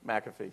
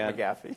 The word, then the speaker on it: McAfee: how to pronounce it mcafee mcafee yes it's not mcgaffey yeah i keep hearing